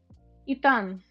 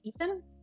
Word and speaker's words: Itan: Everyone mispronounces it though. What is it? Itan. Itan. I think in English it is Ethan.